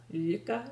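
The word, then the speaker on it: Lykke: So it's kind of a yuka, like almost Luka. Like look and yuk, but yuka.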